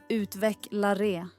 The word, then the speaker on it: utvecklare: Uttalet är utvecklaré.